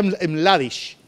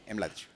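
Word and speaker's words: Mladić: Se pronuncia Mladic, el nombre de este caballero. Mladic. Mladic. Para hacerlo más panameño. Mladic.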